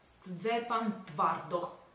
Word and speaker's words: Szczepan Twardoch: Google mi dice che si pronuncia come Szczepan Twardoch.